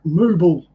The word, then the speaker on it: Mobile: No, it's called Mobile.